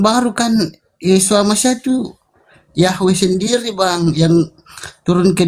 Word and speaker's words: Yahweh: Yahweh itu cara membacanya mesianik.